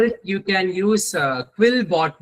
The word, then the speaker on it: Quillbot: Uh for it you can use uh Quillbot ma'am not quizbot it's quillbot. Uh you can also use this use case for it. Okay. So which which is spelled as qu u i l l b o tbot.